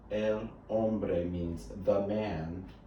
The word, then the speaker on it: hombre: woman ombre means man remember h is silent hombre el hombre means the man it's